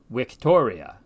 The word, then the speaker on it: victoria: in classical Latin where the V sound always sounds like our W the Latin word for victory for instance is pronounced Victoria the letter U also